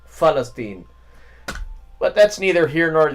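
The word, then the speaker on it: فلسطين: though the word uh Palestine in Arabic is with an F. Falstine.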